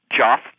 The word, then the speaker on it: Jeff: Joff. Joff. As in Jeff? As in Jeff, that's how it's spelled, yes.